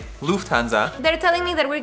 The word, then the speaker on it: Lufthansa: So the U is shorter. Lufthansa. Oh my god. Small but important difference.